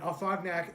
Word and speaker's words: Afognak: And Afognak is an island. It's spelled phonetically, Afognak, just how you would think.